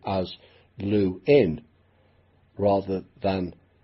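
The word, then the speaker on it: Lewin: moving to America luin began asking people to pronounce his name as luin rather than LaVine because the misspelling it was said of his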